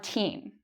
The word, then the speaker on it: thirteen: So when you say the number 13, the stress should be on teen. So I should say teen. It's very clear if I say teen longer and louder.